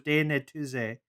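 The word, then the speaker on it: Die Neue These: this reads continuation of legend of galactic heroes daenery tuesday that's how they say it in the in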